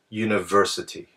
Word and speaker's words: university: uniform and university however these words actually begin with the u sound which is actually a Y sound so that's why we